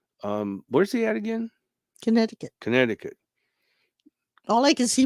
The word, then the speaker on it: Connecticut: you said it right the C is silent Connecticut Connecticut it's I just always